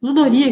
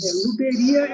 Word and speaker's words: Luderia: Ludoria que chama, né? A Luderia. Luderia, isso. Luderia é como se fala, é o nome dos lugares que você vai para jogar.